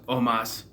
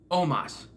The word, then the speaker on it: Omos: And then they're, right after I said that, attacked by AJ Styles, Omos, which is how you say it. Omos, not Omos. Omos.